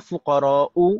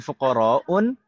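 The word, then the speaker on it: فقراءُ: Kenapa kita membacanya fuqara'u bukan fuqara'un? Padahal tidak ada alnya. Karena kenapa? Karena ini adalah ism mamdud dan polanya fu'ala'u.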